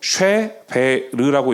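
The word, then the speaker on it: שבר: 그래서 그냥 이렇게 읽으시면 돼요. 쉐베르라고 읽으시면 어 하나의 동사의 의미를 가지고 있는데 이게 어떤 의미를 가지고 있냐면 부수다, 깨뜨리다, 파괴하다입니다.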